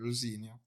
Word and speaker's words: Rosenior: Getting that pronunciation correct. Finally, Rosenior.